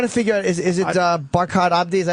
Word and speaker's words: Barkhad Abdi: We're trying to figure out, is it Barkhad Abdi? Is that how you say it, or am I saying it wrong? It's Barkhad Abdi.